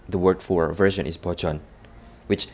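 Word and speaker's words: バージョン: Like, for example, the word for version is bochon, which sounds like nothing in English.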